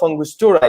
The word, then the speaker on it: Angostura: And Daniyel is a global brand ambassador of House of Angostura.